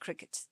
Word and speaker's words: Cricut: printer the Cricut Cricket they call it Cricket but it's spelled with